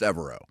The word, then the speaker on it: Evero: it's my job, but I've always heard it pronounced Evero. But I would trust the Panthers website over me. Evero is kind of how they have it laid out on their pronunciation guide.